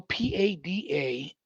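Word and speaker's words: Padanaram: You'll have to tell me how to pronounce that city. I'd never heard of that city before. Dartmouth? No, Padanarum. Oh, oh, Padmum.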